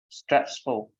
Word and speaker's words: stressful: with the S stressful stressful yes you you tend to skip that s for no reason let's move on on